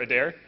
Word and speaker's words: Adair: uh Owen Owen so the G the E is silent yes okay perfect all right and neat and you're a dare okay a dare all right so this is